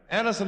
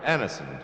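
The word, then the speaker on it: Anacin: Anisonin is like a doctor's prescription.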